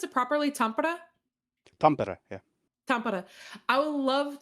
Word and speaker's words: Tampere: How do you pronounce it properly? Tampere? Tampere, yeah.